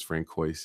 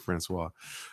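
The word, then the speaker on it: François: a French word so I thought Francois was Frank Weiss and I I just could not ever see that word and and pronounce it Francois okay great just really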